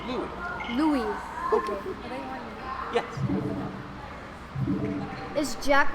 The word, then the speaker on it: Louis: spelling would have you think it's Luis, but it's actually Louis.